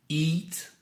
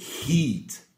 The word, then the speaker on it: eat: Eat, ate, eaten. Attention à ne pas prononcer heat avec le H soufflé qui veut dire chauffer.